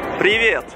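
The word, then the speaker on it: привет: I'm with Ser how they say it privet High in Russia Oh privet okay Do you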